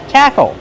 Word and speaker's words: tackle: Tackle. Use a short A sound like black cat, tackle. Then the closed old sound like bottle and table.